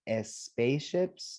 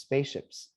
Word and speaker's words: spaceships: then we have spaceships there's no e at the beginning it's not s spaceships no it's just spaceships spaceships everybody these has